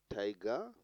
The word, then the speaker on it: tiger: Tiger, here you are placing the emphasis or the bold quality on the first syllable, tie.